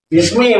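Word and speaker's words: بسم: kan makanya menjadi bis Bismi walaupun gundul tetap bacanya Bismi kalau yang tahu enggak bakal bismu enggak bakalan bis Bisma kemarin gitu ya terus Ismi nah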